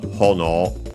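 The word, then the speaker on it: ほのお: the usual copula since hono uh um by the way should be accented on the first syllable if I recall correctly.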